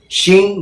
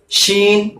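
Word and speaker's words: ش: তাহলে এইভাবে জিবের উপরের অংশটা উপরের তালুর এমনি কাছাকাছি যাবে, কিন্তু টাচ হবে না। টাচ হলে তো জিম উচ্চারণ হবে, টাচ হবে না, কাছাকাছি যাবে। আর তখনই বলবেন শিন বলার চেষ্টা করুন, বার হয়ে যাবে।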